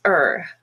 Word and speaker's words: are: to say it but if it's unstressed and sort of in the middle between other words it's er the roads are fine